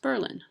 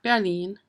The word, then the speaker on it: Berlin: twice a week and guess what it's pronounced Berlin not Berlin Berlin to complicate it there are two little towns in Wisconsin named Berlin and there's a third town called New Berlin and yes they're all Berlin um sort of common